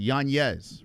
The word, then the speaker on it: Yanez: Yanz, right?